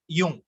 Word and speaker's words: Jung: அதுக்கப்புறம் கார்ல் யூங், அந்த ஸ்பெல்லிங் கொஞ்சம் பாருங்க, JUNG அது ஸ்பெல்லிங். ஆனா அது எப்படி நீங்க ப்ரொனவுன்ஸ் பண்ணணும் அப்படின்னு சொன்னா யூங், உங்களுக்கு ஸ்கிரீன்லயே கொடுத்துருக்கேன், யூங் அப்படின்னு ப்ரொனவுன்ஸ் பண்ணணும், கார்ல் யூங்.